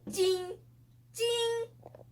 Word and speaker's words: 睛: This is the first tone. In Chinese, it is pronounced di yi sheng. Now I will show you how to pronounce jing in Chinese. Ji ying jing jing